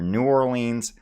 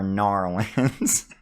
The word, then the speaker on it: New Orleans: It's pronounced either New Orleans or Narlands.